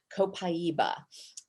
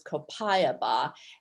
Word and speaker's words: Copaiba: another product that doTERRA has, which is called Copaiba. You'll also hear it referred to as Copaiba and a few variations on that pronunciation.